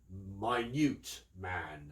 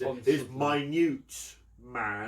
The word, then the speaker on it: Minute Man: Smart and the Weevil, yeah, and Minute Man, which he is Minute Man, not Minute Man. As everyone go, oh, Minute Man. That's not my name, but it's spelt like that.